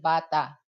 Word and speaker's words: bata: So if you're gonna pronounce that, you have to pronounce with the tone or with the accent.